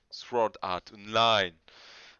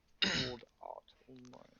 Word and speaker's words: Sword Art Online: Sword Art Online. Je crois qu'on prononce pas le W.